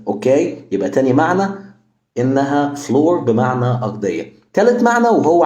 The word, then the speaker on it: flour: معناها الدقيق فنقول مثلا fl fl يبقى فلور فلاور فلاور لو الفيديو عجبك شير